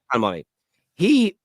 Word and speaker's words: Kolo Muani: And you know what's really interesting with is it pronounced Muani? Did you say Kolo Muani? Yeah, Kolo Muani.